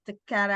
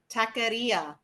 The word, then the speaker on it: taqueria: It's called Brothers Tecara. I know, Barbara, you're going to correct me. I may be saying it wrong. But they have great food. What? What was that? Taqueria. There you go.